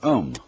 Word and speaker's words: Om: That sound is used because if you spell it out, A-U-M, it runs from the back of your throat to your lips, and therefore it contains the whole range of the voice.